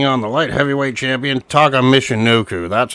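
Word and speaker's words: Taka Michinoku: he was taking on the light heavyweight champion Taka Mishino. That's how you freaking pronounce the name.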